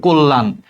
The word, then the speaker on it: কল্যাণ: সাথে দেখ জফলা আছে তাহলে এই কল্যাণটা মত উচ্চারণ হবে কল্যাণ।